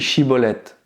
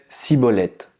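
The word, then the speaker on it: שיבולת: les hommes des frames il lui disait alors et bien dit shibolette et il disait si molette car elle ne pouvait pas bien prononcer sur quoi les hommes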